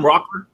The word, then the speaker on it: Rockler: Did I say it right that time, Rockler?